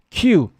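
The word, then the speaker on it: queue: challenges like because of its unique spelling and the UE sound at the end Q it's not a oh okay yes it was the EU sound at the end EU is our Q yes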